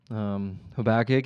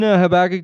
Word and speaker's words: Habakkuk: I, originally said, or however you want to pronounce it. I believe that I have been instructed. Habakkuk is the way that you should, but who's to say that instruction was correct?